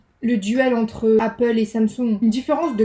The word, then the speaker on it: Samsung: En fait, ça m'étonne parce que, je sais pas si vous le savez, mais Samsung, parce que ça se prononce Samsung et pas Samsung.